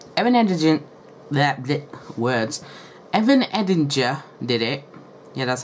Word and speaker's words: Evan Edinger: i'm going to say evan and agent words evan edinger did it yeah that's how you say his